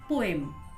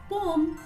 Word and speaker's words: poem: Most of the English learners pronounce it as poem. But friends, its standard pronunciation is poem. It's poem.